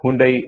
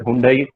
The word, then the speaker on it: Hyundai: And Hyundai, yes, of course, we call it Hyundai. They call it Hyundai. H is silent.